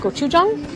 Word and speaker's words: gochujang: Gochujang?